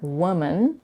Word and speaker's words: woman: In the singular form, woman, the first vowel is a laxed u, and the plural form is a laxed I. Again, singular, woman, plural, women.